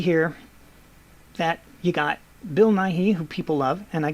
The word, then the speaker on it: Nighy: that you got Bill Nighy who people love and I guess in England they pronounce it Bill Nye but that gets confusing with America and then Halston Butler